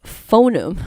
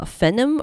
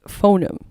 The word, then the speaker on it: phoneme: you search phoneme lips so i've been pronouncing it incorrectly this is phoneme i've been bananas saying it uh phenom or something i said i i believe the correct pronunciation is phoneme still not 100 sure on that but uh this is